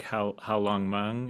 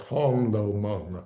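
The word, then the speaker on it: 红楼梦: How Long Meng, is that how you say it, Charles? No, it's Hong Lo Meng. Hung Lo Meng. I always get that wrong.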